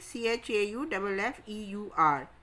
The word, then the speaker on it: chauffeur: तो शोफर की स्पेलिंग देखिए, CHAUFFEUR, चौफियर. लेकिन इसको प्रोनाउंस कैसे करेंगे? शोफर. R will be silent and CHAU will be pronounced that show.